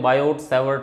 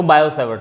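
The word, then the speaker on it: Biot-Savart: Biot भी बोलते हैं, बायोट-सैवर्ट लॉ इंग्लिश है, कैसे भी बोल सकते हो, बोल लो, कोई दिक्कत नहीं है। वैसे टी साइलेंट होता है इसमें, तो बायो-सैवर्ट लॉ बोलते हैं इसको।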